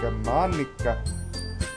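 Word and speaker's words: Monika: Monica. I don't get it. Eh? It's not how you say my name at all. Monica.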